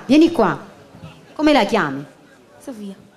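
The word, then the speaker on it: Sophia: Sofia. Quindi sia se è scritto in inglese, sia se è scritto in italiano, si pronuncia Sofia.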